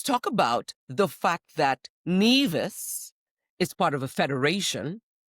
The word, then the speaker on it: Nevis: Your ass can say NeAs.